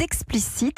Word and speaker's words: Expliceat: êtes le fondateur d' explicite alors ça s'écrit le xbl y cea t comme manger comme le ver